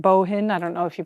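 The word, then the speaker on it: Bohin: I've got it a French company here called boang b b o h i n bohen I don't know if you pronounce it that way or what but it's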